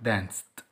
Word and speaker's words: danced: dance يرقص الماضي بتاع danced danced danced، تنطق تي عشان قبلها صوت السه ده الاي دي اللي لما بتيجي بعده بتنطق ايه تي.